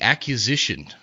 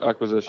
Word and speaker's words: acquisition: the uh I always I always mispronounce this word it's the accusation is that right yep yep acquisition of of go ahead ACC accusation